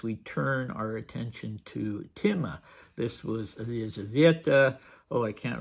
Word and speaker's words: Timme: In Russian, it's spelled Time, looking like the word time, though it isn't time, and it isn't pronounced time. And the other way is Timme, and Dmitri has formed the diminutive Timmechka, which is rather sweet.